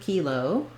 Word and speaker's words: kilo: We do have the word kilo. When we use it by itself, we say that more like kilo with first syllable stress, and we say the tense E.